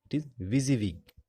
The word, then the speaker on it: WYSIWYG: editor and text editor the pronounciation remember the pronunciation that is busy week and another type is text editor fine WYSIWYG